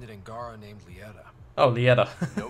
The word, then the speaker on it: Lieta: Okay, we're looking for Legita. I was told you could help me find an Angara named Lieta. Oh, Lieta. No, I'm going to keep calling her Legita. Why not? Because it rhymes with Fajita.